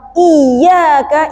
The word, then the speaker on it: إياك: Cara bacanya pun dalam lafaz iyaka itu ada nabrusut. Nabr. Kalau di ilmu tajwid namanya nabr. Nabr itu apa? Hentakan. Angkat suara. Bacanya iyaka na'budu wa iyaka nastain. Beda viibusnya. Pas kita baca iyaka na'budu wa iyaka diangkat kan tekanan suara namanya nabratus